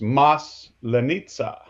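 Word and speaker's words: Масленица: the pronunciation start the emphasis is on the first syllable. It's mas lenitsa. Maslenitsa.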